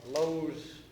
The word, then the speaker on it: Loews: the guys that ran Lowe's theater shows. It's spelled Loews.